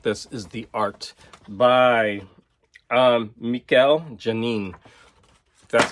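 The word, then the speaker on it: Mikel Janín: The best thing by far about this is the art by Mikel Janin. That's how you pronounce it.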